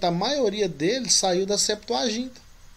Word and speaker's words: septuaginta: pressuposto que é uma palavra grega né a pronúncia correta é septuaginta o tema até então a septuaginta ela é importante também você vai aprimorar seus